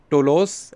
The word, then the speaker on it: Toulouse: you it is uh to laws so i i was actually i did not know how to pronounce it but now i know uh the name of departure report is tolos and arrival is nice